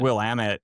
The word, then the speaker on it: Willamette: There's a w- w- pronunciation, isn't it? Willamette is a one Willamette, people not mess up.